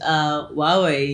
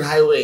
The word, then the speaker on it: Huawei: Huawei, you know, they've been with me since 2019. You know? Sure. Guys, it's Huawei. Not like me, I used to pronounce it highway. It's Huawei.